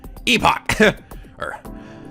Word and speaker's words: Epoch: I think it's actually sort of like, I think it's like the English way of saying it, and then like the American way is Epic, but I always thought Epic sounds stupid.